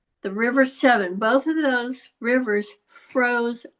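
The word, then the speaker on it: Severn: So, it's the river Tims and the S E Ver, which is pronounced seven. the river seven, both of those rivers froze over and the they they had um fairs on the ice.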